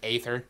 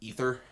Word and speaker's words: aether: AE letter oh yeah the one where it looks like you're supposed to pronounce it like aether yeah but is pronounced ether we like ate that